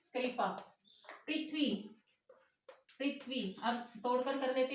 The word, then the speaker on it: पृथ्वी: व हलन जमा ई, तो उच्चारण भी चेंज हो जाएगा, पृथ्वी नहीं कहेंगे, पृथ्वी, पृथ्वी, ओके, ठीक है ना।